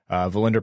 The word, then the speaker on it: Wallinder: William Wallinder. So Wallinder prefers the V instead of the W. So it looks like it's pronounced William Wallinder.